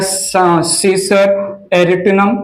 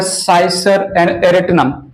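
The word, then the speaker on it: Cicer arietinum: मैंने यहां पर लिया ग्राम का सीड, इसको चिकपी भी नाम देते हैं, साइंटिफिक नेम है साइसर या सीसर एरिटिनम, प्रोनाउंसिएशन आप कर सकते हैं सीसर एरिटिनम या साइसर एरिटिनम।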